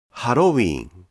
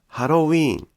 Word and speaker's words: ハロウィーン: ここが 2 と書いてあると、ハロウィーンという発音になります。